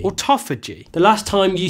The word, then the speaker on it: autophagy: OTO Fiji or Topher G OTO phage not OTO Fei Jie it's a toughie G or Topher G the last time you said Otto Fei Jie loads of people mocked you in the comments Auto Fei Jie well check it out and use that pronunciation